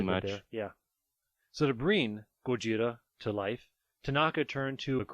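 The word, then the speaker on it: ゴジラ: become the seed for gojira the gojira of course being the japanese pronunciation which is transliterated as godzilla in english and just so you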